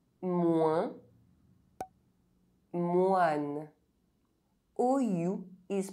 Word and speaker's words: moins: OIN is only pronounced one if it's at the end of a word followed by a silent consonant or by a pronounced consonant other than another N or M. Otherwise, OIN is not a nasal vowel.